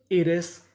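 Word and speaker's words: erase: अगर आपको इंग्लिश की मीनिंग में कोई अक्षर दो बार लिखा मिले तो आपको पढ़ना खाली एक बार होता है। कहने का मतलब आर हमारा यहाँ पे दो बार लिखा है, लेकिन उच्चारण खाली एक बार करेंगे। तो इतनी मीनिंग क्या बनी? आई डबल आर ई रे। और ऐसे इरेस।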